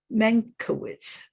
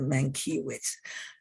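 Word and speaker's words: Mankiewicz: a hermann mancus and his name is pronounced the menkowitz i used to pronounce it the main keywords and you can tell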